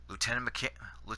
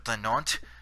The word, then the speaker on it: lieutenant: lieutenant, like such as the French pronounce it lieutenant. I think they do anyways. Americans pronounce it lieutenant, as they do, and us Canadians pronounce it lieutenant. Yeah, I know it's a little off, but that's how the way that we pronounce it.